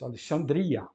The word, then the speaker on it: Alexandria: completa outro caso é não é Alexandria quem grego é Alexandria Alexsandra nome da cidade Alexsandra mas como aquele ex da penúltima sílaba Isso significa que ele é em latim vai dar origem e como é um e longo na penúltima sílaba uma longa na penúltima sílaba em latim mantém-se então fica Alexandria e assim ficou em português Alexandria Depois temos o Euclides